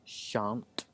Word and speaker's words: shan't: Shall not, shan't. The spelling is a bit irregular. We drop the L's.